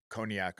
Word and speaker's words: Koniak: We've got a guest Ian Conac on the show. Ian, am I pronouncing your last name correctly?